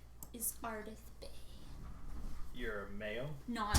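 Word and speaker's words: Bae: My name is Ardith Bay. You're a male? No, I'm a girl named Ardith Because Bay. Bay is spelled. Bay is spelled B-A-E.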